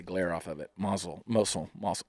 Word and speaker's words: Mosul: off of it Mazel moesel I'm awesome how do you say it yeah I always want to say muscle but I know that's not right that is an aerial view of Mosul it says hey for